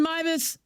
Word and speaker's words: Meives: Uh, Mus.